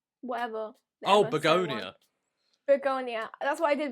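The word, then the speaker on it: Bugonia: That's what I did with Bulgaria before we went. No, that's not how you say it. How do you say it? Bulgaria? Whatever. Oh, ever so one. Begonia.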